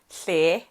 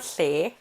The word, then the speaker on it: tle: It's not tle, it's tle, it's tle, tle, tle, motle, letle, lesea lena, leletle.